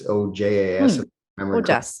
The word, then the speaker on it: ojas: I'm pronouncing it right I think it's ojas it's ojas yeah yeah that that would be it yeah and so it's